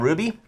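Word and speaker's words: RWBY: The thing you gotta remember about Ruby, it's spelled fucked up. Yeah. If you search for R-U-B-Y, you will find Spelled it. fucked up. It is. He's It's right. R-W. R-W-B-Y. Yeah.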